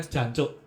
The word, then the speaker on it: jancuk: Tapi benar maksudnya jancuk harus diucapkan dengan jancuk. Heeh. Jangan mengucapkan dengan cok. Jancok atau jancuk. Jangan cok, jangan cuk. Ah, apa itu cuk? Cuk ngono loh. Itu belakangnya G ya, bukan K ya.